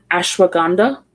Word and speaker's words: ashwagandha: I can't pronounce this supplement. It's ashwagandha.